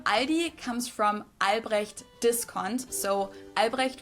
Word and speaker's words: Aldi: Aldis in Germany we just say ali. It has it's like a silent L in it.